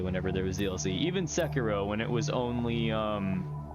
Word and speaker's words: Sekiro: No, that's how you pronounce it. Yeah, Sekiro, Okay, Sekiro.